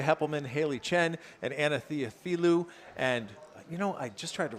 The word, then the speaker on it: Theophilou: That is Mia Heppelman, Haley Chen, and Anna Theophilou. And I just tried to rattle through that, and I didn't do it right. Theophilou, that is how you say it.